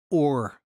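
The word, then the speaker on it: אור: in hebrew the word for light is pronounced or it's spelled like this for those of you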